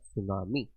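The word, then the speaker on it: tsunami: नजर आ रहा होगा, टी से स्टार्ट है, बट जो आपका ये टी होता है ये साइलेंट होता है। अब बोला जाएगा ना सुनामी, बट टी इज the silent.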